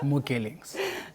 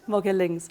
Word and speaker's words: Mogelingz: So, Mogelingz, did I say it right? That is correct, Mogelingz. Mogelingz.